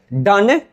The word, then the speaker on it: Donne: अब यहां पे जो है डोन जो लिखते थे डन डोन का डन ऐसे शुद्ध उच्चारण है डन।